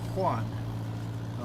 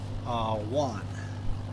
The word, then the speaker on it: Juan: The way I say you have to say my name is Juan. H with an H sound. Juan. In Texas, it's probably Juan with a W sound. Not one. Juan. There's a difference between one and wand.